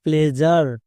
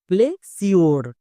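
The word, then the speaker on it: pleasure: sound হয় তাহলে প্লেজ plus আর কি হলো প্লেজার এই ওয়ার্ডের উচ্চারণটা হবে প্লেজার বাট অনেকেই একে উচ্চারণ করছো প্লে সিওর প্লে সিওর উচ্চারণ না এর উচ্চারণটা হবে প্লেজার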